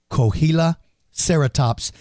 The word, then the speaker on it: Coahuilaceratops: Cohila sereratops.